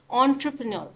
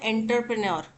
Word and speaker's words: entrepreneur: ऑन्ट्रप्रन्योर, ऑन्ट्रप्रन्योर देखो यही गलती करते हैं बच्चे, बोलते हैं क्या एंटरप्रेन्योर, एंटरप्रेन्योर बोलेंगे तो एंटरप्रेन्योर ही लिखेंगे, ठीक है। तो एंटरप्रेन्योर नहीं होता, क्या होता है ऑन्ट्रप्रन्योर, ENTREPRENEUR, ये होते हैं ऑन्ट्रप्रन्योर के स्पेलिंग, ठीक है। ऑन्ट्रे, ऑन्ट्रे, ऑन्ट्रे।